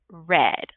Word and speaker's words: read: So read going to the simple past, you would pronounce it red, like the color red.